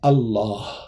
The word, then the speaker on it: Allah: ça dérange un peu au lieu de dire al Ilah on dit Allah tout simplement ça veut dire le Dieu et c'est comme ça que vient le mot Allah c'est un mot arabe